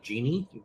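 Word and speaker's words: Djinni: uh I think we're going with the pronunciation of Genie but like like a Genie in a Bottle but it's spelling it the DJI nni way um he does appear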